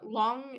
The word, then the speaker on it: Lang: Uh, long is a wolf in Chinese.